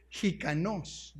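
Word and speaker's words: ἱκανός: Suficiente, del griego jikanos, con J y con K y acento en la O.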